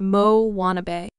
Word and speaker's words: Moanabe: On the fictional South Pacific islet of Motunui, there now exists a variety of tween girl known as the Moanabe, pronounced Mo-wannabe.